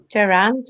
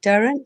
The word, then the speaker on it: Durrant: as sir caroline said i'm durant or durant depending how you want to pronounce it it's not quite all